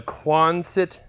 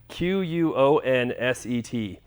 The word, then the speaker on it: Quonset: So some people asked me before what I was saying, because I was saying it too fast, and I know sometimes I talk a little fast and don't pronounce things right. But a Quonset hut, Quonset.